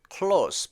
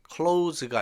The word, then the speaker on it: close: His close, close 발음에 유의하세요. close가 아니라 close 이렇게 해야지 형용사 가까운, 친한 이런 뜻이 돼요.